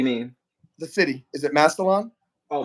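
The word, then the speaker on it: Massillon: what do you mean the city is it masalon oh masalin yeah Mas Ohio masin Ohio uh that's really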